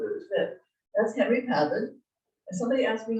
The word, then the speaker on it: Pavitt: That's Henry Pavitt. And somebody asked me how to pronounce his last name. He was born in Switzerland. It's Henri Pavitt, not Pavitt.